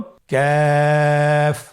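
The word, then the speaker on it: كاف: আবার বলুন কাফ। কাফের মাখরাজ আমরা স্ক্রিনে দেখতে পাচ্ছি। কাফের মাখরাজ হলো জিহ্বার গোড়া থেকে একটু আগে বাড়িয়ে তার বরাবর উপরে তালের সঙ্গে লাগিয়ে উচ্চারিত হয়।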